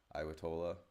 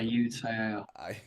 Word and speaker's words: Ayutthaya: Iwatola. I said that name wrong. Excuse me. Ayutthaya.